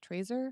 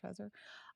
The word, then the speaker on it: Trezor: the brave site is the uh trezor tracer that's how you pronounce it trezor um so they are